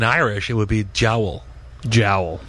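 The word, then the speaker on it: diabhal: you pronounce it again well actually if you're pronouncing it in Irish it would be Jael jowel right okay like that thing on your uh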